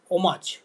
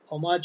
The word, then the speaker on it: homage: So now we come to the next text which is written on the bottle and that is homage homage or as we say we can also say homage it means homage to a homage to something.